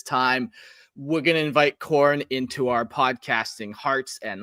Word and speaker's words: Khorne: Which is Khorne. Khorne. Okay. Yeah, I've heard of him. Spelt with a K.